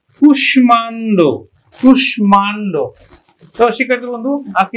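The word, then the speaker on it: কুষ্মাণ্ড: কিন্তু এটা কৃতরহীন শব্দ এই শব্দগুলো মফলার যে নিয়ম সেই নিয়মটা মানে না আমরা এটা উচ্চারণ করি কিন্তু কুশ মান আমরা উচ্চারণ করি কিন্তু কুশমান্ড তুষমান্ড শিক্ষার্থী বন্ধু আজকে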